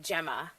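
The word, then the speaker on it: Gemma: will excuse me Jemma that's usually pronounced Jemma well in the unlikely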